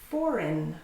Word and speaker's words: foreign: Foreign, a foreign country or a foreign language. The G is not pronounced.